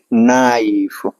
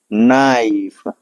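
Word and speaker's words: knife: ठीक है, रूल पता है कि हमें क्या है, अगर एन के पहले के आ रहा है तो हमारा के साइलेंट होगा, तो इसको हम क्या पढ़ेंगे, नाइफ। ठीक है, क्या पढ़ेंगे इसको, नाइफ।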